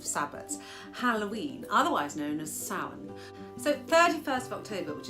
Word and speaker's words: Samhain: So according to the Irish language pronunciation website, Samhain is how this word is pronounced.